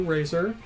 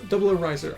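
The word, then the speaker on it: 00 Raiser: The Double O Razor. No, Double O Riser. I keep on wanting to call it Razor because that's how it's written, but it's pronounced Riser.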